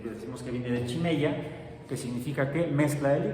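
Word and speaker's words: χημεία: Y viene como se pronuncia, chimeia. Lo que pasa es que la ji se puede pronunciar como ji y como chi o ji. Por eso aquí está como chimeia, pero podría ser jimeia.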